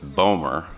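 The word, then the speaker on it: BOEMRE: management regulation and enforcement bomer and i gather somebody had some trouble pronouncing it it's bowmer just so everyone's clear was created by secretary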